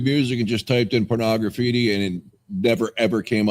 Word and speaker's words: Pornograffitti: I didn't Brian want to- Steele says he agrees with me on the pronunciation of Pornograffitti instead of porno graffiti. Whatever.